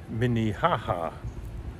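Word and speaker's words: Minnehaha: you do know nowed I have been mispronouncing this Lake and it turns out it's lake minihaha so there must be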